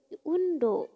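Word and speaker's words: 運動: Kanji kedua ini kan bergerak, cara bacanya do, panjang ya, do undo.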